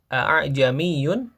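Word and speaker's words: ءَاعْجَمِيٌّ: Jadi bukan a'jamiyun tapi ajamiyun. Jadi hamzah yang keduanya itu ee samar ya. tidak sejelas hamzah yang pertama wa arabi.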